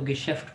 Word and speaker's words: Geschäft: ठीक है, इसको हम उमलौट आ गए तो गिशेफ्ट पढ़ेंगे और एच को साइलेंट Geschäft.